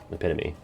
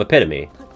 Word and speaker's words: epitome: a particular EP Tye epitomy huh not epitom epitome what am I thinking of you're thinking of epitome you're just saying it wrong A lot of people do when they read it because they don't they don't hear it out loud and I think